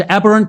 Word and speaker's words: Aberrant: So the the the book title is Aberrant Capitalism. That's the way we pronounce it, Dave.